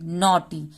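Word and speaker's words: naughty: हमको कट बोलना है एन ए यू जी एच टी वाई नटी एन को न बोले हैं ए यू को यहां पर ओ तो न बन गया टी वाई यहां पर टी का ट होगा वाई का ई का मात्रा होगा नॉटी जी एच साइलेंट है तो इसको हमको नॉटी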